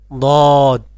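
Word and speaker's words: ض: দদ, অর্থাৎ সদের মতনই কিন্তু নুক্তা আছে, তাই এর নাম হলো দদ। সদের মতন দেখতে কিন্তু নুক্তা থাকার কারণে এর নাম হয়ে যায় দদ।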